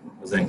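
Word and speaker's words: Tzanck: इसमें T silent है जैंक smear.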